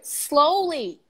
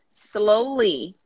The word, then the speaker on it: slowly: okay one more here slowly slowly blow the S don't say the I slowly it's ground master this